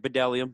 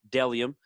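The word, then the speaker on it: Bdelliom: uh not so good this time but it's pronounced dellium i know it looks like bdellium but it's deliam b-d-e-l-l-i-o-m dellium is m is men's and women's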